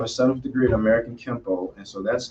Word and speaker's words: Kempo: Did I pronounce it correctly, Kempo? Yeah, American Can you tell Kempo.